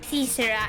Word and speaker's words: caesura: Therefore, once the festival reaches 34 days, I shall declare Kaisura. Kaisura? I think Caesara. Because it's spelled like Caesar. Like Caesar, like Julius Caesar. Ah. Caesura, and bring this symphony to a swift conclusion.